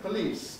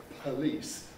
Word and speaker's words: police: about these next words police today are these aspirated well not really because here the vowel is weak and in these cases i mean it doesn't matter very much but in practice native speakers don't ask for it as much we don't on the whole say police or today we say police today today so not so much inspiration there what about